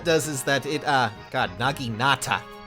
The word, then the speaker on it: naginata: naginata what that does is that it got naginata saying it correctly that accelerates special trigger cooldown